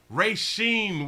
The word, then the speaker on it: Racine: his life they've been arresting him say it's pronounced racine with everything you're killing them i just be playing sometimes sometimes i don't go in for the other life in racine courtney wisn 12 news i like it i